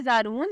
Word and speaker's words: Zaroon: नाम है जारून, स्पेलिंग है ZAROON। जारून नाम की मानी है मेहमान।